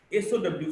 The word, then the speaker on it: sow: SOW, sow, means a pig, a female pig.